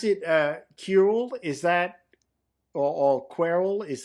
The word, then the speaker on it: Querl: So in my head, it's Querl, like the back half of squirrel.